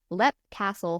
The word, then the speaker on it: Leap Castle: What's so funny is I'm I I'm like I'm reading my notes and I'm reading this narrative and it's spelled leap and like just a with your brain.